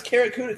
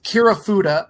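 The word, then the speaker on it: Kirifuda: I thought it was the Karakuda clutch. Go again? Why are you zooming in on me? Can you spell that for me? Spell it. Karakuda. Go ahead. Karakuda. Karakuda clutch. Karakuda like Barracuda. Yes. It's Kirafuda. I believe it's Kirafuda.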